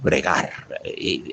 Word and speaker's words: bregar: Primera palabra grave, duro bregar. Aguda, duro bregar. Con acento en la primera sílaba. La primera, la segunda en la segunda palabra acento en la segunda sílaba.